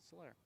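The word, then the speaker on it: Soler: I'm gonna go with Solair because fellow angel Jorge Slayer is Cuban pronounced Solair.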